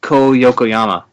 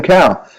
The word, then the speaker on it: Ko Yokoyama: I say his name right. Yeah, that actually, congratulations. That's perfect. Some people, and he knows, we joke about it. Some people call him, right? They call him Cow.